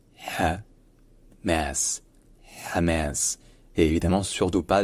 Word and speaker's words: Hamas: Et donc le ha arabe, il se prononce un peu comme un H, mais comme un H qui est prononcé peut-être un peu plus profond et un peu plus fort aussi.